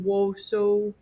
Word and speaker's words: Wausau: Wausau.